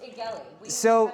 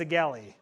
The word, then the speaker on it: Egely: Pronounced Egely. I've been saying it wrong the whole time, apparently. So I've heard Egely, I've heard Egely, Egely. We got told from the marketing person it's Egely.